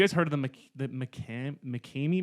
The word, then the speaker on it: McKamey: heard of the mccann mckamey manor i think is how it's pronounced mckamey mikami manor no so what